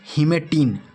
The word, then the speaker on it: hematein: ये क्या है, हीमेटिन, और ये क्या है, हीमेटिन। दोनों को क्या पढ़ेंगे, हीमेटिन ही पढ़ेंगे, बट अंतर क्या है स्पेलिंग में।